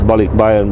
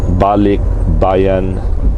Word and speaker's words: Balikbayan: But for the most part, majority of the Filipinos that are around the world, they send this Balikbayan Box to the Philippines with clothes, candies, spam.